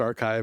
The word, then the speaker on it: arXiv: So archive it's a arxiv which is impossible to but it's pronounced archive.